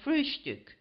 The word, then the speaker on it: Frühstück: the word breakfast but always call it frühstück, with a special emphasis on the first syllable.